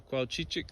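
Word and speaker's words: cuauchichic: names to say and almost as fun to say is to spell it c u a u c h i c h i c c u a u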